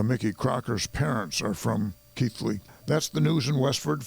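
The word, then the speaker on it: Keighley: of authority uh mickey crocker's parents are from keith league that's the news in westford for the week ending october 35th 31st 1908.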